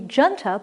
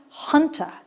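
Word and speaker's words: junta: group of ships now number four looks like it should be genta but it's pronounced hunter and i've forgotten my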